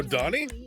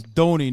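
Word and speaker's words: Donie: My name is Donnie, not Donnie. Well, it's spelled D-O-N-N-I-E, right? No, it's got one N in it. Donnie O'Sullivan, like Donald.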